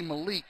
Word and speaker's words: Malik: four yard Malik Walker I was saying Malik it's actually Malik the I just heard